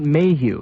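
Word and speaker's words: Maheu: later during the week of september 25th robert mayhew that's spelled m-a-h-e-u that's a name that crops up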